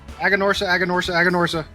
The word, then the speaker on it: Aganorsa: But of course, Aganorsa.